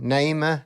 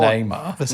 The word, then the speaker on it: Naima: So, Naima, Neymar. It's not Neymar. No one knows how to say it.